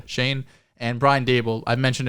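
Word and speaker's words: Schoen: in the bill's assistant joe shine after that's how you pronounce shane and brian dabel i've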